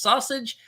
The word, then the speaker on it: SASG: this is sausage links S A SG yes pronounced sausage stands for the self